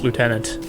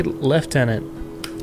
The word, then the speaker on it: lieutenant: from the Leviathan Phobos lieutenant or should I say leftenant no it's Lieutenant that's how it's spelled anyways before gluing it